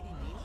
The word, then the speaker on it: Demas: And she came up with the name Sadie Demas? Yeah, which it rhymes with penis.